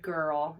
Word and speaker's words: girl: And we know that there are rule breakers, like the word girl is followed by an I, but it's a hard G.